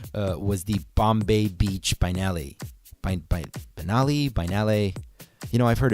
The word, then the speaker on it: Biennale: So it's Bombay Beach is spelled kind of how it sounds. Biennale is Biennale.